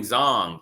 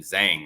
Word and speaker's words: Zhang: a fluke Big Bang zong hey it kind of sucks you don't pronounce his name Zang right big bang Zang that has a ring to it man but it's big bang Zong and he stopped the